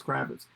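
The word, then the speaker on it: Krawicz: cool way of spelling it's still pronounced kravitz but it's spelled a different way in the from the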